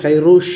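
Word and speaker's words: Kourosh: இந்த கதை, இந்த புத்தகத்தினோட நாவலோட கதை எப்படி போகும் அப்படின்னா, அந்த மெயின் கேரக்டர் வந்து சைரஸ்ங்கிற ஈரானியனில் வந்து அந்த பேரை ப்ரொனவுன்ஸ் பண்ணுறவர் கைரூஷ் அப்படின்னு ப்ரொனவுன்ஸ் பண்ணுவாங்க.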